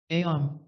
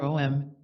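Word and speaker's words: Aum: various worlds of Illusion ayom or om as it is wrongly spelled and pronounced is used to shut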